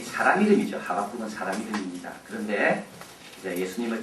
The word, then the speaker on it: 하박국: 오늘 우리는 하박국 선지서를 읽어보려고 합니다. 하박국이라는 말은 원래 이 사람 이름이죠. 하박국은 사람 이름입니다.